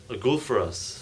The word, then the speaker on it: Gulfaraz: Gulfaraz. Gulfras. Yes, like golf.